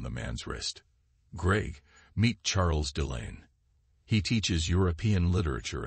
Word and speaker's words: Charles: Charles, pronounced the French way as Charles, struck me as your typical Eurotrash type.